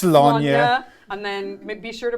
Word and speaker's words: Sláine: our Brit wrote my notes for me and was like, It's Sláine. and then be sure to pronounce it Warhammer 40,000.